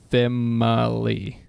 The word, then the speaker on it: Female: So the name is female, but pronounced Femali. Famali.